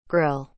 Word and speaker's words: grille: grading that admits cooling air to cars radiator Grill is spelled g r i l l e Grill but